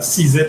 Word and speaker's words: CZITT: of these other parts of it we at cesit which is pronounced uh sees it as in gravit and hold it is the